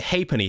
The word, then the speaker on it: halfpenny: You would pronounce it halfpenny.